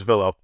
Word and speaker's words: Vilo: How do you pronounce it? What's the proper way? So I knew it was Velo.